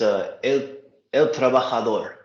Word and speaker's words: El Trabajador: It's El Trabajador. Okay, El Trabajador. I am sorry if I mispronounced that.